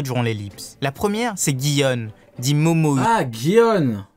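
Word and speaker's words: Gion: La première, c'est Guion, dit Momo. Ah, Guion. Moi, je prononce Dion. Mais effectivement, il faudrait peut-être dire Guion. Moi, je dis Dion, parce que c'est G-I.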